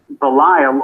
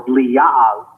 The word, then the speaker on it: Belial: We have Belial, or Belial, as it is pronounced in Hebrew, is a Satan.